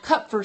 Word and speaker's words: Kupffer: discovered them but it if you say cup like a cup cup for sale that's how you say it cut for sale